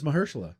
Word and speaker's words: Mahershala: I think I don't know if I'm pronouncing his first name. No, right. it's Mahershala.